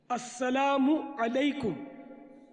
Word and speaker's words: السلام علیکم: السلام علیکم، دیکھیں میم پر پیش ہے، بعض لوگ لکھنے میں تو بہت غلطیاں کرتے ہیں، بڑے بڑے غلطیاں کرتے.